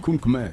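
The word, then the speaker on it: Khmer: Le Kun, c'est ça ? Le Kunmer. Oui, c'est ça. Kunmer. Kmer. Ce sont les Cambodgiens. Donc, on prononce ça comme comme eux parce que c'est le pays où il y a les k rouge.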